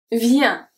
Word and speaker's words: vient: Vient. Vient. Vient. The T is silent.